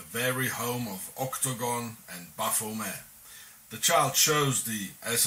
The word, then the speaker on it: Baphomet: Therefore the name should be pronounced without the T at the end, as the early Templars were French, and in French the T at the end is not pronounced, coming to the exact pronunciation in Demotic.